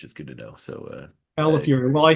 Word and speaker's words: Calafiore: So Calafiore. Well, I say in pronunciation, it's like California, but you get angry at the end. Fury.